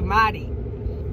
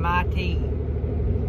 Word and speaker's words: Mighty: 250 dollar order through mighty so i think i've been pronouncing that wrong i've been saying my team but it's mighty like faster but y'all know i'm